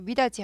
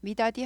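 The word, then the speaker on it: 미닫이: 그리고 미다지 할 때 미다디 하지 않고 미다지, 디귿이 지읒 부드럽게 하기 위해서 지읒 발음이 납니다.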